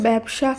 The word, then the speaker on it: ব্যবসা: এ হিসেবে করতে হবে তাই ব্যস্ত ব্যবসা খ্যাত জ ফলা যুক্ত এই শব্দগুলির উচ্চারণ হবে এ হিসাবে এবং ব্যক্তি ব্যতীত ব্যতিক্রম এই শব্দগুলির উচ্চারণ হবে আবার এ ধ্বনি হিসাবে আজকের ভিডিওতে এরকমই আমরা